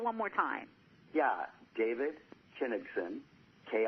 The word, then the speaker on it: Kinigson: you know I apologized and Sam pronounce and spell it one more time yeah David Kinnison ki n IG xon and people can follow